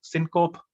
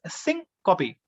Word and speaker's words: syncope: sometimes we pronounce it wrong i used to pronounce this word wrong syncope no it is sync copy right uh we have to go to the